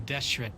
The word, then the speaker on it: Deshret: the traitors are what US followers of King deshret despise the most oh that's how you pronounce it Dia I thought that you a